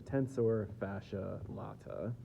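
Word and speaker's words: tensor fasciae latae: the tensor fascia L I've heard it pronounced a couple different ways I think probably the best way to say it is a tensor fascia lat and that connects right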